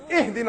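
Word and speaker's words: اهدنا: You better not say, Ahdina as-sirat al-mustaqim, otherwise I'm going to pound you. It's Ihdina as-sirat al-mustaqim.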